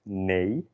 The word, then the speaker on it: nee: No in Dutch is nee, N-E-E, nee.